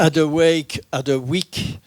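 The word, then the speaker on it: Hadewijch: Adeweyk d'Anvers, figure mystique. Adeweyk, pour vous, pour la prononciation plus française, c'est une des seules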